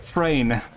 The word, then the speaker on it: Freyn: Freyn. As in, like, rhymes with rain, train, brain, etc. Freyn.